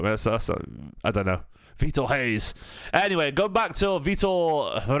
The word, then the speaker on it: Reis: Let's talk about Vitor Reis. I'll go through the Vitor Reis. Someone threw me off with the pronunciation on a video yesterday, saying it's pronounced Hayes with H.